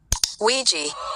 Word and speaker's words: Ouija: It may seem unrelated, but I've asked a data analyst expert to give us the proper pronunciation of this word. Ouija.